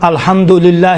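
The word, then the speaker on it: الحمد لله: تلفظ کرتے ہیں، مثلا الحمدللہ رب العالمین، دللہ صحیح نہیں ہے، دلیل دیکھیں الحمد الگ ہے، للہ الگ ہے، حمد ہو للہ پروردگار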